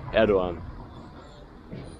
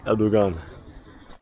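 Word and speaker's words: Erdoğan: As I told you, the G is silent, like in Erdogan. Tayyip Erdogan.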